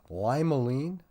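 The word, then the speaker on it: limonene: episode of terpene talk this time easier to pronounce uh terpene sam it's going to be limelean got it right that time limolin's a common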